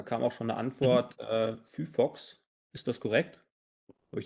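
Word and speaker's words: phyphox: Da kam auch schon eine Antwort, Fufox. Ist das korrekt? Habe ich das richtig ausgesprochen?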